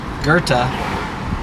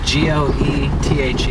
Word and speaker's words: Goethe: Coming back up on the church, the street is Goethe, G-O-E-T-H-E. I believe I'm pronouncing it correctly because the CTA bus recording says Goethe. You'll hear some people say Goethe.